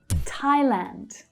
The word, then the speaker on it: Thailand: Now the TH doesn't make the usual f sound here. It's not Thailand, but Thailand. So in English, actually, we pronounce Thailand with a stress on the first syllable. Thai people usually stress the second syllable.